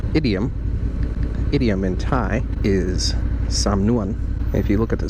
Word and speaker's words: samnuan: That's why it's samnuan and not sa-nuan.